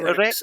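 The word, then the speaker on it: Greatorex: Now, I'm not sure about how to pronounce this guy's name. So it's created by Wilfred Greater Gratore. X. Greater Greater X.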